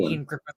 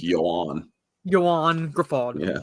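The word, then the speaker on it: Ioan Gruffudd: So it's like kind of like the actor Ian Griffith? I believe so, yes. Look up how his name is actually spelled, and you're like, how the fuck are you getting Ian Griffith from that?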